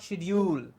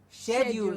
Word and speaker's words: schedule: share you and not shedule shedule is wrong share you'll is correct and schedule is of course the American way to pronounce the word yes shed you and